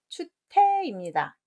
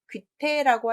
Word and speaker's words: 추태: 자, 답은 추태입니다. 귀태라고 하지 않으셨나요? 귀신기 때문에 그건 아니고 도덕적 윤리적으로 추한 행동을 하는 걸 추태라고 합니다.